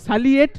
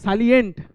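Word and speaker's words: salient: সাইলেন্ট মানে এটা বিশেষত্ব, এখানে এন্ড হবে, সালিয়েট নয় কিন্তু, একটা এন বসবে ওখানে, সালিয়েন্ট, ঠিক আছে, যেটাকে আমরা সাইলেন্ট অনেকে পড়ে ফেলে, কিন্তু সাইলেন্ট নয়, সালিয়েন্ট, ঠিক আছে।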